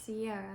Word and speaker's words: Siarah: got my name wrong it is Sierra not Sarah but it's okay I'm